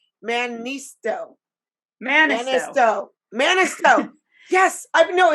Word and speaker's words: Mannisto: Mannisto.